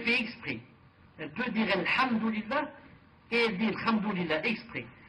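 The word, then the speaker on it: الحمد لله: le français par exemple, ont des difficultés par exemple de prononcer le H. Le H en disant Alhamdulillah, Al-Ha. C'est difficile. Ils prononcent par exemple Kha. Ils disent Alhamdulillah, par exemple comme ça.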